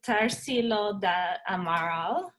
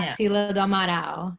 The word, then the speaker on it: Tarsila do Amaral: Tarsilo da Amaral. Yes, Yeah. Tarsila do Amaral.